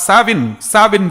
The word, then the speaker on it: Samhain: The spelling is Samhain, but it is pronounced as Samhain Festival.